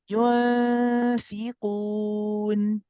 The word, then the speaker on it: ينفقون: Focus on the front, not the back, and relax the back, and just think about the makhraj at the front. ينفقون. ينفقون It's a little bit better.